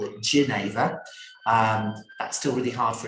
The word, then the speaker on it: genever: We're not very good at saying foreign words here, so we don't call it jenever, we call it genever.